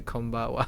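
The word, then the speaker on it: こんばんは: unnaturally add gozaimasu to konbawa, I suppose. You may have noticed that the final kana pronunciation is wa, yeah. For it is written with the character ha, not wa, right?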